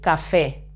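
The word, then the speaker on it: café: let's continue Coffee El Cafe it's easy this one when you see a written accent remember that you always have to stress the sea level when you see this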